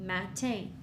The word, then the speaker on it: matin: For example, the and the a, that's ma, the t, and the a, te, matin. Okay?